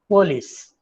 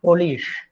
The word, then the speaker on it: police: example if you ask them to say police police our example police police but they say polish polish came in the morning polish like you say english so they changed that